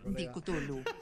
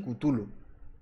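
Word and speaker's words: Cthulhu: Dikutulu, así se dice ahora. Dikutulu. No, no se dice ni Catulu ni Cutulu.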